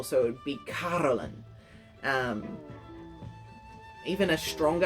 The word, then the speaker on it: Carolyn: the name carolyn now the pronunciation of carolyn can be a bit tricky because as you can hear me saying it i'm saying caroline so it sounds like ca orlean the r seems to be hidden underneath an invisible